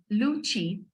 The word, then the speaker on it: luchi: And with that we have luchi, which is a puffed flour kind of. It's spelled as Luchi, luchi.